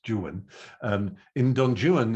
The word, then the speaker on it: Juan: work is don juan it has to be pronounced juan not juan he makes the rhyming insists that it's jewen um in don joon